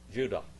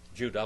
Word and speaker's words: Judah: What's the proper pronunciation of Judas's name? Judah. Judah, which means what?